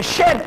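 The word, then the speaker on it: Djed: The Jed pillar. The real way it is pronounced by the Egyptians was the Shed pillar.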